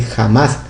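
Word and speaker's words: חמס: quiere decir en hebreo, se dice en hebreo jamás. La C y la H, aquí como ustedes la ven, que aunque dice aquí jamás, es realmente jamás, aunque se escribe aquí con CH.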